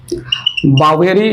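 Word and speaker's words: Boveri: बावेरी या बोवेरी जो भी प्रोनाउंसिएट करना चाहे कर सकते हैं।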